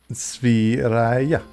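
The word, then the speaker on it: Sverige: And Pudding says, I tell my Swedish wife it's pronounced Sviraya. She hates it because that's incorrect. Sviraya. They like trill their R's and stuff.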